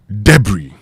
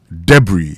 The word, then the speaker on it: debris: have to do this debris debris d e b r i s or debris it is not debris the s there is silent and not pronounced Okay.